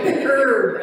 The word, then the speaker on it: herb: of symbolism to that it's like herb it's a silent h only here in America in England they TCH the H right I always said